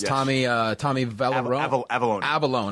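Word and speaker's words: Avallone: uh Tommy Val avalone avalone I know how to say it right yeah um great guy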